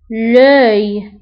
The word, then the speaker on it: œil: العين، يعني عين واحدة، l'œil، لوي. فانتبهوا لطريقة كتابة لوي، O E I L، لوي.